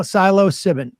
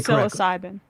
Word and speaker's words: psilocybin: Lefty Lucy um uh corrected my pronunciation I'm going to say it right right now Silo sibin I don't even think I did right there here's the point I'm not going to say psilocybin the chances of me